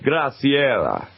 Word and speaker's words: Graciela: that shot right - that's brazilian Brazilian okay so I got to say it like Graciela yes I do it